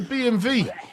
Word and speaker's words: BMW: That's a BMV. A BMV, boys. Right, because it's actually pronounced V or whatever, not W. Because they don't have a W or whatever.